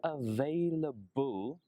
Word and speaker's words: available: this weekend for class so it's a V and then the B remember V is your top teeth and your bottom lip touch V V V and for the B your lips both of your lips very vailable yes I'm